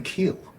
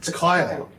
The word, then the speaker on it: Keil: No, it's Kyle. Yeah. Is it because it's German?